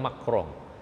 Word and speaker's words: Macron: Nggak sekarang ini yang lagi rame Eropa ya, dimana ada Macron, bacanya Macron ya Pak ya, dia bilang Macron atau Macron, orang sana bilang Macron.